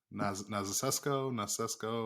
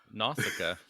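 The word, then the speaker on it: Nausicaä: And 90% of your channel's NECA and little tiny, I don't even know how to pronounce that anime. Nasesco. Oh, Nausicaa.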